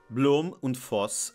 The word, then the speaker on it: Blohm und Voss: Blohm und Voss, now with the correct pronunciation, made some of the